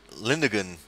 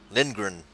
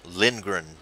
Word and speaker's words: Lindgren: got the Zaca Linda Linda GaN on the lead lap as well Lindgren I keep saying his name wrong Lindgren as we are now